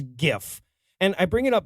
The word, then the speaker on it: GIF: arguments type of diatribe it's pronounced gif god damn it this isn't a regional pronunciation thing it's not a to each their own thing there's a right way in a wrong way and when you say jiff we don't know what